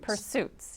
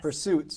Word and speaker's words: Pursesuitz: Well, it's a play on words. All right, clearly. Yes. And it's spelled deliberately P-U-R-S-E, the word purse, and then suits with a Z at the end.